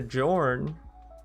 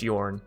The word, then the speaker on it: Jorn: hope you weren't enjoying your jorn i know it's yarn i know i'm gonna have so many comments trust me i know i've played skyrim i know how to say it che so why but